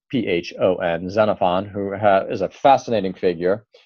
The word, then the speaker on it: Xenophon: I have read, we've just gone over a dialogue written by Xenophon, spelled with an X, Xenophon, Xenophon, who is a fascinating figure.